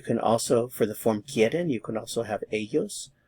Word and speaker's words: quieren: The answer is ellas quieren el pollo. Ellas quieren el pollo. Ellas quieren el pollo. Notice the stem change is here. Quieren. Stress is on the que.